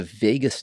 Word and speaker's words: vagus: The vagus nerve. Like Vegas? Like of Las Vegas? It's spelled a little different, but vagus nerve, cranial nerve number 10.